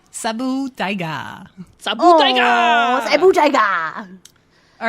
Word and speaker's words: Saber Tiger: Pronounced Sabu Tiger.